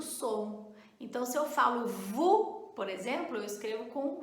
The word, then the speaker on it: vous: Olha só, se eu falo VU, tem som de U.